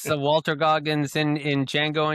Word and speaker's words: Django: Walter Gogggins in in Django Unchained the D is silent hillbilly the D